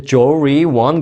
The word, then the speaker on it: 조리원: 것 같아요 스펠링은 이렇습니다 jor R ion 한번 발음해 보세요 jor ion 갑자기 또 미국식으로 발람 하은 거 아니에요 조리원 그러시면 안 되고네 한국말로 조리원입성이 생각하시는 여러분들이 아시는